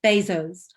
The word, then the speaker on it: Bezos: first name's jeff and you pronounce his second name i think it's bezos and so i'm just wondering